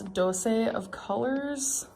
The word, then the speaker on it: Dose of Colors: It's like it's dose. It's just right there. Dose. And the last thing I got is, I'm pretty sure that's Dose of Colors.